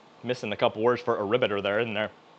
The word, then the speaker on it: Arbiter: So, I almost said aribbiter and a lot of other phrases where I didn't know how to pronounce it right because I only read it. I never heard it actually said.